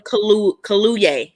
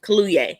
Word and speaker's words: Kaluuya: from it y'all tried to please close daniel kaluye kaluye that's how you pronounce it we can't hear you muted you're